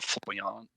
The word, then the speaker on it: Foyle: It's pronounced Foyle.